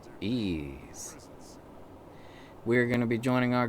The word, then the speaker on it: Ys: you and me and its name starts with e but it's actually the letter y however it is pronounced ease we're gonna be joining